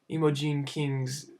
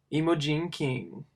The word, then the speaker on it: Imogene King: did a little mnemonic take an emo plus some jeans plus a king and you get emojin king emojin king had three